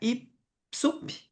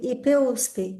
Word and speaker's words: IPUSP: Professora livre docente da IPSUP. É isso, Marina? É assim que se pronuncia? USP. IP USP.